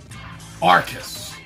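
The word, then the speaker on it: Arkeis: Now, the first game, I'm not 100% sure how to pronounce. I swear I heard 2 different pronunciations of it on videos. I Googled it. So this is the best I can give you. Arceus. A-R-K-E-I-S.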